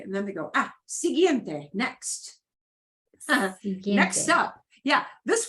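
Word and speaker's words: siguiente: Uno important okay and then they go ah sigiente next next up yeah this word means next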